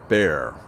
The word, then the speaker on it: Bexar: i was saying is bexar county is pronounced bear of course it is